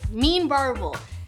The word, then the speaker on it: Meen Varuval: in between bites so there you have it mean barbel now you know how to pronounce it make it and eat it you've